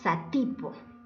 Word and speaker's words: Satipo: Ejemplo, la palabra satipo. Vamos a silabear. Satipo. Muy bien. ¿Dónde está la sílaba tónica o acento? En la ti.